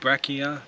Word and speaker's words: Brachina: Brachina. Oh, we're really good at that pronunciation thing.